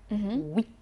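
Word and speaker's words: huit: ويت. رقم 8 هنقول ويت ويت، وخلوا بالكم الصوت بتاع اللي هو او واي هيقول وي، مش كده يا مروه؟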